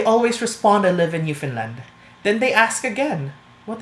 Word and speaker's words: Newfoundland: you doing in Finland I am pronouncing it right it's because of the Scottish descent It's Finn not found and that's due to the accent if you look at